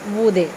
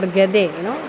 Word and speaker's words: Goethe: by Johann Wolfgang von Goethe. You need not remember his name. You just have to remember Goethe or Gede. He is pronounced in both ways.